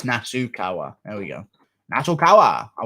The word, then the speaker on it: Nasukawa: Nakasawa, sorry.